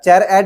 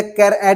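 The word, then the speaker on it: charAt: अब चेर एट बोल दो या कैर एट बोल दो, यहाँ पे जो अपने अपने हिसाब से प्रोनाउंसिएशन करते हैं, तो यहाँ पे चेर एट या फिर कैर एट आप लोग बोल सकते हैं।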